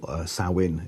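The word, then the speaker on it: Samhain: belief or a pagan Festival of SA or sawin is how it's pronounced sometimes it was in fact a celebration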